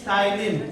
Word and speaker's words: ptyalin: Another name of salivary amylase is ptyalin. P is silent. Ptyalin.